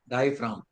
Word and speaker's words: diaphragm: डायफ्राम है उसका नाम, डायफ्राम, जी साइलेंट है, डायफ्राम।